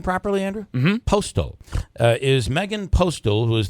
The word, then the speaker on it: Postol: Postol, is Megan Postol, who is the author of the Remsen and Steuben.